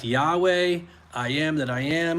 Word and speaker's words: Yahweh: And if you're going to put vowels in it, even though Hebrew has no vowels, they still pronounced vowels. We are using educated guesswork to figure out what those sounds are. The scholars do. Yahweh is probably as close as we get.